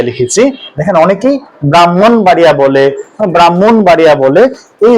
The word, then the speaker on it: ব্রাহ্মণবাড়িয়া: ব্রাহ্মণ বাড়িয়া এখানে দেখুন এই হ এর উচ্চারণটা কিন্তু পরে হবে সবসময় তাহলে আগে হবে কোনটার